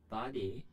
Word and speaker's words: バディ: バディ？ Not sure why they decided to change that, but the term used in Japanese is strictly body, the Japanese pronunciation of the word body.